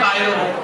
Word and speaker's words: Cairo: और अंग्रेज इसी को बोलते हैं कायरो। क्या बोलते हैं? कायरो, क्योंकि इसकी स्पेलिंग है CAIRO, कायरो।